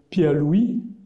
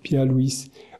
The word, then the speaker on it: Pierre Louÿs: se marier avec Louise il dit il y a un truc qui m'embête là quand on parlera de ma femme on l'appellera Louise Louise ça fait mauvaise rime ce qui n'aurait pas de sens si il s'agissait pas d'une prononciation en is donc je pense qu'on peut continuer à dire pierre Louise Louise sa femme en